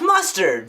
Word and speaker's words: Mustard: You're Chef Mustard from that TV show, Cooking with Mustard. It's pronounced Mustar. The D is silent.